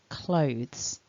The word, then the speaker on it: clothes: pronunciation of the word clothes so here's the phonemic script and my top tip for this word is to notice that this is actually one syllable it's not divided into two syllables so when a native